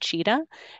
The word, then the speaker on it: Qiita: QIITA is pronounced cheetah, and this tool is part of the Chime set of tools for analyzing microbiome data.